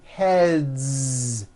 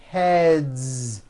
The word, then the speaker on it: heads: Game two games games another word head ends with a voiced d so we've got one head or two heads heads it's voiced two heads very good next word